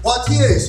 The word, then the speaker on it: Poitiers: Poitiers is also two syllables.